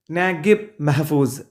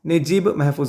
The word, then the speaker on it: Naguib Mahfouz: ഇത് എഴുതിയിട്ടുള്ളത് നാഗിബ് മെഹ്ഫൂസ് രണ്ട് രീതിയിൽ വായിക്കാം അപ്പൊ നമ്മൾ വിക്കിപീഡിയയിൽ നോക്കി കഴിഞ്ഞാൽ രണ്ട് ഉച്ചാരണം കാണാം ഇയാളുടെ പേരിന് ഒന്ന് നജീബ് അപ്പൊ അറബിക് പേര് നോക്കുമ്പോൾ നജീബ് എന്നുള്ളതാണ് അതിന്റെ ഒരു ഉച്ചാരണം വരുന്നത് ഇനി ഒരു ഇംഗ്ലീഷ് പ്രൊനൗൺസിയേഷൻ എന്നുള്ള രീതിയിൽ നാഗിബ് മെഹ്ഫൂസ് എന്നും കാണാം അപ്പൊ നിങ്ങൾക്ക് ഏതും ഉച്ചരിക്കാം നാഗിബ് മെഹ്ഫൂസ് എന്നും നജീബ് മെഹ്ഫൂസ് എന്നും പറയാം അപ്പൊ അദ്ദേഹത്തിൻറെ ഒരു മദർ